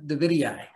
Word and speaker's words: davidii: butterfly bush the boudia davidii okay you have to pronounce both eyes at the end it's a rule uh i guess david